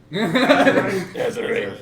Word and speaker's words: Azurite: Azurite.